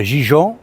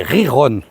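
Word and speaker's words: Gijón: Alors c'est pas Gijon, c'est Riron.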